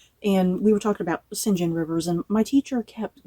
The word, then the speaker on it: St John: thing that I have the urge to say St John Rivers because is that totally wrong with me so yeah it took me forever to get the singen rivers kind of in my head that that's